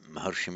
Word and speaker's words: Maharshi: So you have the great seer Maharishi, as in Maharshi Mahesh Yogi, Maharishi becomes Maharshi. Remember, it's a short A here, Maharshi. Even though it's a long A, it's shortened.